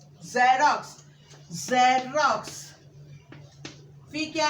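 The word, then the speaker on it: xerox: अब जब हम वो प्रोनाउंस करेंगे ज, ज़ेरॉक्स, ज़ेरॉक्स, फिर क्या है?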